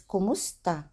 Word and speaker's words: kumusta: Next is kumusta. So again, pronunciation is kumusta.